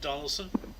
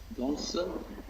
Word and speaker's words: Donelson: Grant Union forces at Fort how do you pronounce it? Donaldson. Donelson, Tennessee.